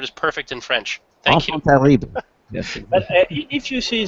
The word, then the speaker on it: enfant terrible: Because how do you pronounce it in French? Enfant terrible. How do you? My French is terrible. Enfant terrible.